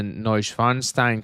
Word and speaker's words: Neuschwanstein: It is a beautiful depiction of the Neuschwanstein Castle.